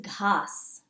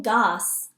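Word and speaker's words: घास: And grass is ghas. Ghas. Now that's a tricky H word. Ghas. I'm not saying gas, I'm saying ghas.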